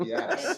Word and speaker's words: Beatus: I call it Beavis because I'm making fun of it, but it's Beatus. That works. I kind of knew I was saying it wrong, but I was also from New England, so.